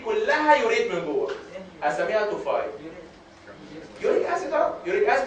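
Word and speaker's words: tophi: وكمان under the skin فتعمل توفاي، وما تنطقها توفي.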